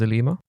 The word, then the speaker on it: Alima: another call out from arub her name is elima did i pronounce that right i hope i did yeah